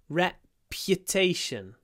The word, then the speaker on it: reputation: his reputation reputation uh what's interesting here is that there's a little y after the P rep the the uh is really small tation oops this should be normal text reputation reputation so remember to pronounce the Y sometimes people miss it because it's not there in the Russian word but reputation reputation it